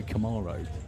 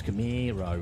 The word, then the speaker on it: Camaro: that's why it's like you you can't say Camaro everyone says camiro or something like that so it's some sort of American well I don't have a collection on it why not mine's Camaro use his work mine's